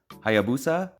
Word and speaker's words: Hayabusa: take a look at the 21101 lego ideas hayabusa hopefully i'm pronouncing that right that's how the dictionary says